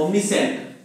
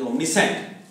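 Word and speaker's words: omniscient: अब होता है ओमनीसेंट, स्पेलिंग इसकी ओमनी और सेंट, SCIENT, ओमनीसेंट, ओमनीसेंट को बोलते हैं वन हैविंग द नॉलेज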